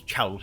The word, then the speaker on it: Chowles: What kind of name is Chowles? It rhymes with jowls.